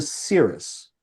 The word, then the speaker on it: Syris: So when I got into business when I was like 17 18 years of age I changed to Cirrus s y r i s.